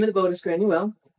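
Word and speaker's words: Gráinne: of the boat is granule which is the gaelic pronunciation of grace o'malley okay so mali was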